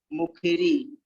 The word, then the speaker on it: मुखरी: इसमें तीन बड़ी मात्रा लगी है तो इसको री को लंबा खींच देंगे, मुखरी। और मुखरी के बाद में कुरुते, मुखरी कुरुते।